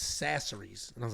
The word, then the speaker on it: Chachere's: It's Sasseries. which is crazy. I was calling it Tony Chachere's, and it was big ass Bo.